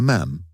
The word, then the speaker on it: ma'am: For my part I called her ma'am to rhyme with jam.